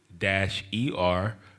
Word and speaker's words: Niger: That's Niger, and in the Strong's that's G3526. And Niger, one of the other pronounces is Neeg-ER. That sounds a little closer to nigger.